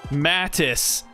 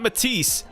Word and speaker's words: Matis: Mattis, not Matise.